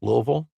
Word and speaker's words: Louisville: Notice how I said it like the locals say it, Louisville?